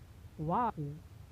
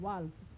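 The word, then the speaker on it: walk: कुछ लोग वाक को पढ़ते हैं वाल्क, तो यह क्या होता है, गलत है।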